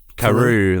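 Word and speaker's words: Karous: Obviously, how do you pronounce? Is it Karas or Karu? Karu, that's the one.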